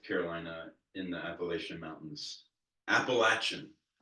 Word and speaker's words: Appalachia: West Western North Carolina in the Appalachian Mountains appalachin it's anyone who's from there we'll tell you